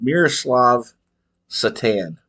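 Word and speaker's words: Miroslav Šatan: but they had a guy young guy called Miroslav Satan that's how you pronounce it but the last name spelled Satan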